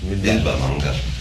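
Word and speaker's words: Bilvamangal: Yes, Bilba Mangal.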